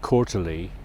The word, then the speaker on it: Courtenay: So you pronounce it Quarterly.